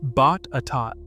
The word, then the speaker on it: Botetourt: Number 4 is Fincastle, seat of Buena County, pronounced Bot-a-tot, a name that trips up narration on nearly every competing video about this region.